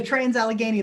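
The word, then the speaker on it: Trans-Allegheny: State Penitentiary, and I know I'm going to pronounce this one wrong, the Lunatic Asylum. The Trans Allegheny Lunatic Asylum.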